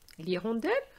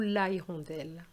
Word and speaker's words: hirondelle: L'hirondelle ou la hirondelle? We say l'hirondelle.